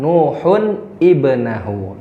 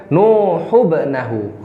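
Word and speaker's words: نوحٌ ابنه: Ya, jadi bukan dibaca Nuhubnahu. Kesalahan pertama. Nuhubnahu.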